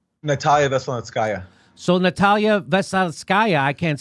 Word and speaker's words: Natalia Veselnitskaya: Natalia Veselnitskaya.